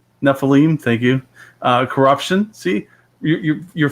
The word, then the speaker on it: Nephilim: Nephilim.